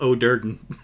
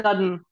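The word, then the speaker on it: Do'Urden: It's also, you also did notice the surname of O'Durden. That one I forgive as well. Drizzt O'Durden. I'm from the Underdark. He's one of the men of Baranzan, right? Usually it's Drizzt Dudden. Drizzt Dudden is usually what it gets called.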